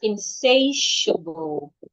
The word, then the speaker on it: insatiable: The word is pronounced insatiable. Insatiable. The TIA there sounds like the TI, excuse me. The TI in the word sounds like SH.